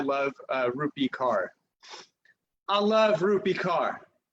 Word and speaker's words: Rupi: I love that Rupi rhymes with poopy.